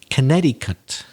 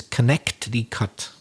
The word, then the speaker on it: Connecticut: place names for example connecticut which is a difficult word to pronounce because the way it's written isn't really the way if you said it the way it's written you would think it was connect the cut but but it isn't it's connecticut and you